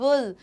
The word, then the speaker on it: wool: हैं wool, wool, exactly wool नहीं होता, it is wool. So जैसे ऐसा pronunciation होता है ना VUL, wool, तो हम इसको wool, pull, wool ऐसा बोलना है हमें।